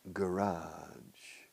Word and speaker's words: garage: parking garage parking garage garage they stress the first syllable garage the Americans garage parking garage it's implementary